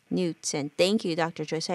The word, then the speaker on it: Knudsen: It's pronounced Knudsen. Knudsen.